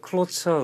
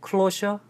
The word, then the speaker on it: cloture: The Cloture Rule. The Cloture Rule. Closure? 아니, Closure 해도 되고요. Cloture Rule.